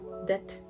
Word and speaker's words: det: Hvordan går det med deg? Eller deg. But it's just how are you? The meaning of Hvordan går det med deg is how are you. So de, it is silent T.